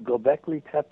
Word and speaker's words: Göbekli Tepe: Actually, anybody interested in this should Google up Göbekli Tepe. It's spelled Goebekli, and the other word Tepe, Tepe.